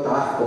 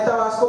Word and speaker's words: Tabasco: Tabasco, yo soy tabasqueño, yo sí pronuncio la S. Bueno, a veces se me va, ¿verdad? Mi mujer me critica porque a veces platicando con tabasqueño se me va y digo Tabasco, pero bueno, o tabasqueño.